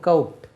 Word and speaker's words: coat: மாதிரி நான் போட்டிருக்கேன் இல்லையா கோட் COAT இதை கோட் இல்லை அந்த ஹை கோர்ட் இருக்குல்ல அதுதான் கோர்ட் சுப்ரீம் கோர்ட் COURT தான் கோர்ட் இதனுடைய உச்சரிப்பு கவுட் எப்படி கவுட் அங்கே எழுதிட்டேன் நான்